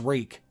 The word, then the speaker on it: Reek: he sheathed it reek my name is reek it rhymes with weak then reek bent to